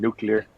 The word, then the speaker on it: nuclear: fourth Indie indana Jones the way he said nuclear was like how like bu said it like